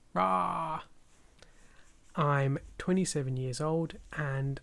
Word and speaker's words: Rah: My name is Ra, pronounced like how a lion roars, Ra.